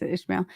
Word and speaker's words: Ishmael: So, how do you pronounce Ishmael? this? Okay, it is Ishmael.